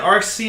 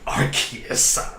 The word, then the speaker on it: Arceus: and the fact that rc is i'm sorry arceus i forgot that's how you pronounce it now because otherwise it's